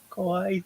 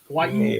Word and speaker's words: Kawaii: Kawaii things tonight.